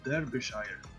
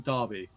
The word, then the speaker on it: Derbyshire: to they are in Derbyshire baby Derbyshire is a place yeah but the pronunciation to be fair I think you mean Darby yes but they say that